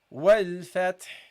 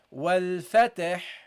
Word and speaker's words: الفتح: So you say wal fath. You pronounce the ta with the sukun, fat, and the ha at the same time. Okay, it's a bit tricky. Okay, what you don't do is say wal fatah, fata.